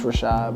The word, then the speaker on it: Rachaad: then they you know if they ask me like oh did I say it right it's like that then I'll be like it's Rashad but other than that